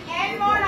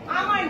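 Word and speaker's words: almond: বয়সকালে আমাদের এই অ্যালমন্ড আমাদের খুব প্রয়োজন, সবাই খায়। আমন্ড যেকে বলে, একটা সাইলেন্ট থাকে আমন্ড।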